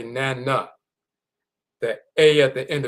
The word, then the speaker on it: Nana: This is how it's pronounced. Nana, Nana.